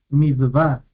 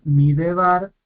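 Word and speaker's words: מדבר: Midvar, no es midevar, es midvar, midvar. Este lleva está dividiendo sílaba. Midvar, este lleva está haciendo división de sílaba y es silencioso.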